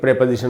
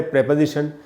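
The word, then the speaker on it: preposition: तो with एक प्रेपोजिशन होता है। ये भी जो वर्ड है प्रेपोजिशन, इसका भी जो उच्चारण है सही वो है प्रेपोजिशन, इसको प्रीपोजिशन नहीं पढ़ना चाहिए।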